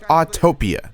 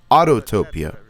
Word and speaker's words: Autopia: of my biggest complaints it's spelled autopia not autotopia i swear people do not know how to read or speak english but anywho i can easily say that autopia is better because i